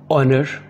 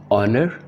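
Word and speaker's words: honour: ऑनर इज़्ज़त, इसमें भी एच साइलेंट है। ऑनर इज़्ज़त।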